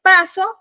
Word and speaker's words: paso: puntuación y la acentuación no es lo mismo decir paso a que pasó porque paso no lleva acento en la o pasó lleva acento en